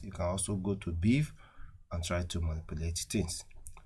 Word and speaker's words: BeEF: into particular database so we talking about exploitation we're talking about beef see the way it is spelled we have it pre-installed